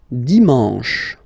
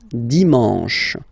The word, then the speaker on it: dimanche: And the last one, dimanche, dimanche. You get the sh, sh, sh, sh, and then an, en, en, dimanche.